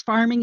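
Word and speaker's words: pharming: In this case, farming is spelled P-H-A-R-M-I-N-G.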